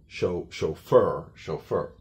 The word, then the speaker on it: chauffeur: So the CH is pronounced more like an SH.